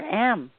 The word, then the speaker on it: Om: source of all vibration begins with the a sound ends with the u sound.